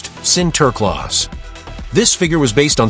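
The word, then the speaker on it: Sinterklaas: When Dutch immigrants came to America, they brought their tradition of centerclaus pronounced center clause.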